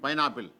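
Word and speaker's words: pineapple: மாத்தி பின்னு சொல்லணும் பிங்க் ஆனா ஐக்கும் அடுத்த எழுத்துக்கு இ வந்திருக்கு அப்ப சொல்லும் ஐ சொல்லணும் பை பைன் பைன் ஆப்பிள் பைன் ஆப்பிள் உதாரணம் பாருங்களே எல்ஐ எடி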